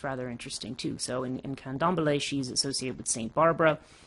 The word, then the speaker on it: Candomblé: I want to say Cambole, but I don't remember if I'm missing a, what you call it? What is it? Candomblé. Sorry, I knew I was missing a syllable somewhere. Candomblé.